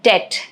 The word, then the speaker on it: debt: Silent B in det reflects its Latin origin, debitum.